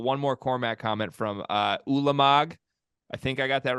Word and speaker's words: Ulamog: One more Cormac comment from Ulamog. I think I got that right now. He said it's pronounced Ulamog.